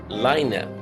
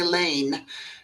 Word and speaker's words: Laine: ladina Lina yes yes you pronounced it correctly most people say Lane that is absolutely what I was saying I